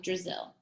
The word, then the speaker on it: Drizzle: Brazil rhymes with drizzle.